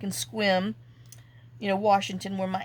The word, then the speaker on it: Sequim: house, my aunt, in Sequim, even though I call it Sequim, but it's pronounced Sequim, and stayed with her